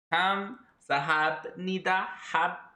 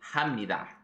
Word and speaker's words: 합니다: It's like, that's why I was like, hab니다, hab니다, but it's actually 합니다, like an M.